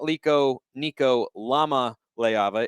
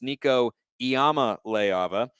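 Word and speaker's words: Nico Iamaleava: commented and corrected me it is not liko nico lama leiava it's nico iyama leiava i hope i'm pronouncing that correctly but i was thrown off there by the uppercase i and my brain took it as an l and you know what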